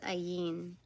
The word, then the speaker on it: Ayin: Oh, it's pronounced Ayin.